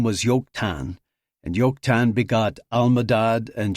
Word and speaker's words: Joktan: No, Joktan is pronounced with a Y sound, not a J.